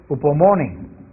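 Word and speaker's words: ὑπομονή: Hay una palabra griega que es un poco difícil de traducir, pero que quiere decir paciencia, que se pronuncia upomone, y es el carácter que no sucumbe ante los sufrimientos.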